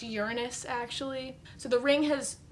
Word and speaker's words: Uranus: was near uh was it uranus i know uranus is not how you print are supposed to pronounce it supposed to be pronounced uranus actually so the ring has formed there and